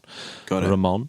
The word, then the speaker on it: Ramon: And he talks about Ilan Ramon in very glowing terms, and I believe, and he does pronounce it Ilan Ramon.